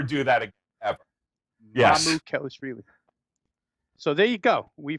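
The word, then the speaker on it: Mamukelashvili: way I have it written down in 3 syllables here is Mala Kelishvili. It might be close, it might be wrong, but Mala Kelishvili. Was that right or wrong, Tony? Come on, Mia. Mamu Kelishvili.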